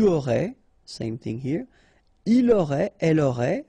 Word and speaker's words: aurait: J'aurais, final S not pronounced, tu aurais, same thing here, il aurait, elle aurait, final T not pronounced, so phonetically exactly the same form here.